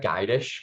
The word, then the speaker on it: Gydush: letting me drive and it's geidish by the way you're pretty close it's a hard name